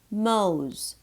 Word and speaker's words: mows: Mows, mows, O-W, long O.